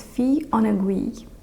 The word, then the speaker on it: Fille en Aiguilles: you see written black on black, Serge Lutens Fille en Aiguilles. I asked my French husband for the correct pronunciation of this scent, and it is Fille en Aiguilles.